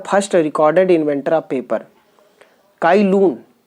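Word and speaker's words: Cai Lun: चाई लून वी कैन pronounce it, presented paper and paper making process to the Chinese emperor.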